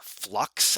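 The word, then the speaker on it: f.lux: f locks are flux i think people call it flux is what how it's supposed to be pronounced but it's f dot l u x so i don't i don't know how you pronounce that as flux f dot l u x that's f lux anyway it just came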